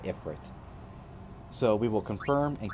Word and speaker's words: Ifrit: Ifrit, or Ifrit, or however you like to pronounce it. I call it Ifrit.